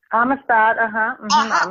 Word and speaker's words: Amistad: For Malcolm X, yeah, and working with Spielberg in, I hope I pronounced this right. I do believe it's the AMISTAD. Is that what it is? AMISTAD, AMISTAD, thank you.